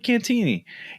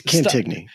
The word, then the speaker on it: Cantigny: But if you talk to the staff, they'll tell you Cantini. And I'm like, what is it? That drives me nuts. I've never heard. I guess I've never heard anyone else other than you and me pronounce it. So Cantini? Which is silly. Cantini? Yeah. It's silly. It's Cantigny. I'm going to say it like its name. It's Cantigny.